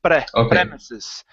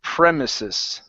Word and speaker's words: premises: good R sound so right now you're saying premesis okay control your tongue so it doesn't hit the top of your mouth okay give me a good P premises premises prises all right very good